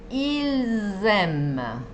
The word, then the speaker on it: Ils aiment: Pero si decimos, ellos aman, sí se va a pronunciar. Escuchen. Ils aiment, con un sonido de Z.